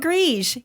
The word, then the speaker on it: Gris: Pinot Gris. We're not pronouncing the S.